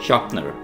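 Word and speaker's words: sharpener: इसे शार्पनर कहते हैं यहां पर आपने आर को साइलेंट रखना है शनर खुरपी को हम इंग्लिश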